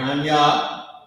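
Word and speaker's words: Ahnya: Anya, that's how you pronounce this word. A-H-N-Y-A.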